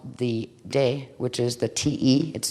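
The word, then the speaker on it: 德: one is called the de which is the te it's spelled t e but it's pronounced de and the other is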